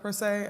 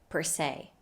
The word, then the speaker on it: per se: so the first word per is pronounced with the schwa sound plus an american r sound our favorite so the